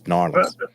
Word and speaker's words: New Orleans: Orleans and New Orleans it's really New Orleans not New Orleans it's norleans there's two ways to